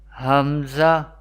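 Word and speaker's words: ء: Hamza and Ha, Hamza and Ha, pronounced from the bottom part of the throat.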